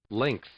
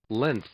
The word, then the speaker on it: length: alien gth it's length i would never not pronounce the g i think the g